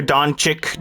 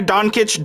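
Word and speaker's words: Dončić: names i can't pronounce i know it's luca don kitch don't don't okay uh let's move on uh luca 38 15 10.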